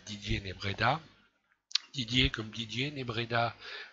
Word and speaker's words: Nebreda: Didier comme Didier, Nebreda comme ça se prononce, N-E-B-R-E-D-A.